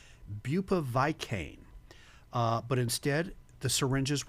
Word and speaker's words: bupivacaine: I I pronounced it bupiva bupivacaine.